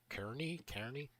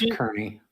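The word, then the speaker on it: Kearney: I once went to a park near Kernney Kney that had a real cherry tree. I was able to pick a cherry right off the tree and eat it no problem. That's pronounced kernie.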